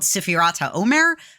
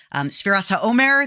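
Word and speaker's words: ספירת העומר: And some people have a practice called Sfirat HaOmer. Sfiras HaOmer, there are different pronunciations.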